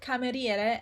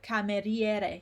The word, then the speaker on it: cameriere: Okay, and the I is not pronounced ever. We saw the word cameriere and we said that CA is always ca,